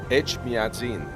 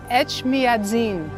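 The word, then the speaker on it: Etchmiadzin: Echmiadzin. Echmiadzin.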